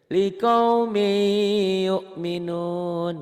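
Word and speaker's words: لقوم يؤمنون: Setiap tanwin ketemu huruf bertasdid, tanwinnya baca satu dan langsung nyamber ke tasdid bacanya. Likaumi gitu. Likaumi yu'minun gitu.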